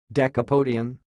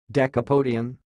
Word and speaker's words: decapodian: the word you see it sounds like deca podium dekha podium well dekha podium dekha podium that's all thanks